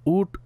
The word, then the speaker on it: উট: আচ্ছা, উট শব্দের মধ্যে ট উচ্চারণ হবে।